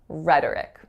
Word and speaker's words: rhetoric: so for this word the real trick again is that oh has to reduce to schwa so the word is